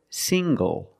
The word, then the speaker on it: single: speak very good also this word single single the n g makes the nasal sound plus the hard G single single I'm not